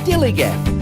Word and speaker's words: Dilligaf: That's spelled D-I-L-L-I-G-A-F, Dilligaff, and this is what it means.